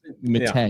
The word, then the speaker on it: Matta: So it's Matta.